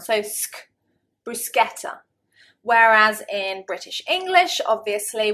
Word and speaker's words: bruschetta: Bruschetta. Bruschetta. The British, I think probably 9.9 times out of 10, will pronounce it bruschetta. Bruschetta. And of course, it is a foreign word. It's an Italian word.